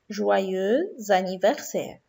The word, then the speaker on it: joyeux anniversaire: بننطق joyeux لوحدها وanniversaire لكن لما بننطقهم مع بعض بنقول joyeux anniversaire.